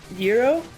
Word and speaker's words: gyro: When AV said Euro, I misheard as hero as in like sub sandwiches. Sure. Because I've very rarely heard it pronounced that way because I live outside of Philly where they are usually called gyros.